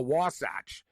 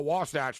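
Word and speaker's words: Wasatch: uh what the hell is a uh a wasach and people don't really even know that's that's how you pronounce it a wasach and the Utah wasach take a one- nothing lead tonight it just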